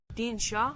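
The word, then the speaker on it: Dindshenchas: The Dinshonkus. Dinchonkus. I might have to pronounce Big that one. chonkus. Dean Shaw. I just raw. Dean Shaw. The The Dean Shaw, a medieval collection of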